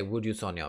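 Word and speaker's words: 우주소녀: wjsn for some reason i like to say yjsn i don't know why it just sounds better to me but instead i've learned to say would you sonia because that's how you say it in korean and i don't really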